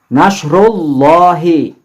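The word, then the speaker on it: نصر الله: Nasrullahi. Nasrullahi. Mengucapkan ru-nya itu jelas ya. Nasrullahi.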